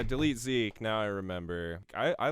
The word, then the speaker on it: DLTZK: What did you think of, I think you pronounce it Delete Zeke, DLTZK? Yeah, Delete Zeke.